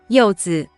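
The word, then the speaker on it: 柚子: But a more common nickname for yuzu in China is just the translation of the fruit yuzu in Chinese, which is pronounced as 柚子.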